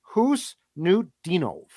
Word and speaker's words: Khusnutdinov: According to Gord Miller, who calls the World Juniors for TSN, it's Khusnutdinov.